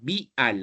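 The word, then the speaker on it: Bial: Ya se escribe con B de bueno, vial, así como suena.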